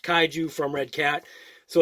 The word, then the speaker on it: Kaiju: Obviously, like you saw on the front, it's got the nice picture of the Kaiju, and that's actually pronounced Kaiju from Redcat.